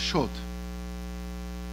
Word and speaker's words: Schott: So he changed his name, like many, because Shad actually in German is pronounced Schott.